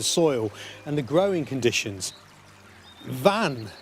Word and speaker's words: Vann: Vann, sometimes pronounced Venn or even Fen, means bog, and that's thought to relate to an ancient settlement below the Surrey sandhills.